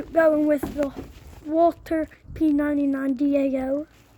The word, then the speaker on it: DAO: going to be going with the Walter P99 da o d a o yeah I said it right